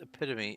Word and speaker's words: epitome: says epitome in it a new reader or or someone who is new to the word well almost universally say epitome I have observed many videos of people mispronouncing the word epitome and then in the future content they put up they don't say epitome they say epitome because they want to show off I know how this word is pronounced now and you get to